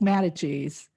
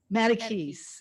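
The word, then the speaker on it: Mattacheese: pronunciation is because it looked to me like Mata cheese school but I know it's not pronounced Mata cheese matakis okay all right um and then you know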